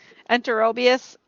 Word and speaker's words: Enterobius: Enterobius, and there should be a bias on the end.